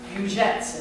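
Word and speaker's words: Bełżec: Belzec, pronounced Bujets in Polish.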